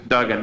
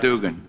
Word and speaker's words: Duggan: Duggan, not Dugan.